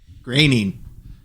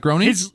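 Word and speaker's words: Groening: groin is a time traveler graining graining graining yes it's not groaning wait his last name's not groaning it's graining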